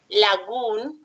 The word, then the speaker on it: lagoon: Recuerden que la doble O en inglés generalmente se pronuncia como si fuera una U, la doble O. Entonces sería lagoon, very good.